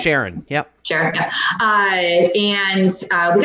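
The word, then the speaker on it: Charon: there's Nix Hydra um Karen I say that Sharon is I pronounce that Sharon yep sure hi and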